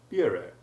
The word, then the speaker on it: bureau: eau de cologne, and in the word bureau, although the first syllable of that word has acquired an English U sound.